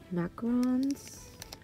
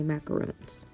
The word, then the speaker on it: macarons: And then she made some, I think they're called macarons. Some people say macaroons, but I was told that's not the right way to say it.